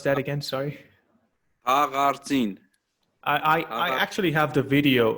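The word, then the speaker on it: Haghartsin: How do you pronounce that again? Sorry. Hagartin.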